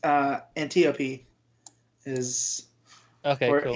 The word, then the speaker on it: Antiope: as well, but it's Antiope is or cool. Antiope. However we're pronouncing it. I'd put Antiope because it's like Aphrodite, isn't it? And, right. So. I just said Antiope because it sounds like antelope.